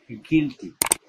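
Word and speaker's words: guilty: অর্থাৎ কোন শব্দে you plus I, ইউ I plus consonant এরপর ভাওয়েল না থাকলে ইউ আই এর উচ্চারণ হ্রস্বই এর মতো হবে। যেমন গিলটি, জি ইউ আই এল টি ওয়াই, গিলটি, গিলটি মানে দোষী।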